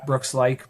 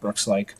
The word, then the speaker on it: Laich: uh on social media, Brookslike. My last name is L A I C H pronounced just like L I ke but